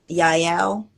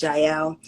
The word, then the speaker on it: Jael: if you know about Yael or some people pronounce Jael and Deborah so they